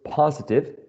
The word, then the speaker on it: positive: my last word was positive positive has three syllables and the first one is the most prominent or the stressed syllable in this word okay so um who's